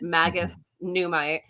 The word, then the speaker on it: Magus Numite: Yes, kids, that is the way you pronounce it, Magus Numite.